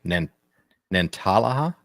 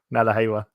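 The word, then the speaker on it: Nantahala: And I'm gonna butcher this national forest name, Nantalaha. Nadahala. Thank you. Nadahala. So, but I'm closer to Nadahala. Okay, Nadahala. Okay, I see it now. Yeah, I was putting the wrong emphasis on the wrong syllable.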